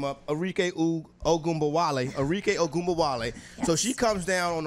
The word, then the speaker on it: Arike Ogunbowale: Arike Ogunbowale. Arike Ogunbowale.